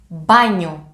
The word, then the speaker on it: μπάνιο: You should be very attentive in matters of pronunciation for this letter, the ni letter. Ba, the ni with the iota letter is banyo. Nyo. Not banyo, but banyo. Nyo. Not nio. Nyo.